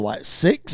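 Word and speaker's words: Wyatt Sicks: why their name is the Wyatt Six, Yep. spelled like sick.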